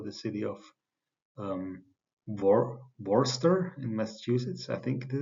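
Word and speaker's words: Worcester: city of um War Worster in Massachusetts I think this is how you pronounce it right um so I I used to say Worchester but some somebody told me that it's wrong so um okay so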